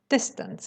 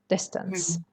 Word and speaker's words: distance: not distance no distance distance it's a schwa sound if you cannot pronounce the schwa say this tense a is better than ang here okay distance this yes another one